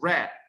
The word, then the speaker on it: read: the same reading right i mean the same spelling but the pronunciation in the past is red right row c soul